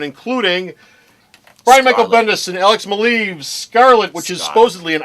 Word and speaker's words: Alex Maleev: I did not say that ah Brian Bendis alex maleev I know that that how you say his